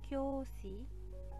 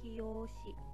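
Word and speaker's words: 教師: benar adalah A, yaitu kyoshi. Maka tulislah A pada buku minasang. Karena di sini pelafalan ini kiyoshi, kiyoshi. Ini salah ya. O-nya, yo-nya harusnya kecil. Yo kecil, kyo, kyoshi.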